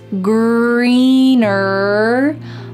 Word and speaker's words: greener: The grass isn't always greener on the other side. So don't forget that hard R sound in the word greener at the end and also in the word other.